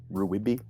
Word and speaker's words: RWBY: airbender and ruby characters ruibi that's how i pronounce it because that's how it's spelled it's rwby okay okay fair fair